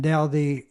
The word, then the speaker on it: Dowdy: I used to introduce him as Howard Dowdy, and Dowdy rhymes with Mouthy.